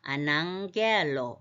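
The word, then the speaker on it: ἀναγγέλλω: 감마가 이렇게 겹치면 앞에 게 응 소리가 나서 그렇습니다. 아낭겔로 알리다 발표하다.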